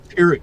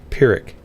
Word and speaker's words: Pyrrhic: Like a F sound? Or do you pronounce the P? Pyrrhic. I've always pronounced it with the P.